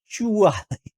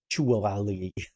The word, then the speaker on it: Ackchyually: Ackchyually. It's got to have like extra syllables. Ackchyually.